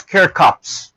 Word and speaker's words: Kirchhoff: i watched from youtube one of the pronunciation is cure cops here cops law okay that is our next